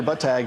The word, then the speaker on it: Buttigieg: Peter Buttigieg, the mayor of Indianapolis. Best way to pronounce your last name?